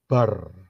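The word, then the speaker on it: בר: Rose sebelah kanan ya base dan race itu kalau dijadiin satu itu bacanya bar bar itu adalah San bahasa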